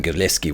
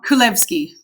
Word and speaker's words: Kulevski: the quest in chiropractor today we have gesi with us and actually I've butchered your surname there give us your surname properly please uh kvki kvki I always put a v in there